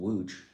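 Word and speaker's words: Łódź: Lots is pronounced Wuj.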